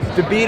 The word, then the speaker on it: David: David is how it's pronounced with the Russian accent.